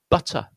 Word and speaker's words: butter: Look at this one here, butter, yeah. Again, we've got that short U followed by a schwa sound.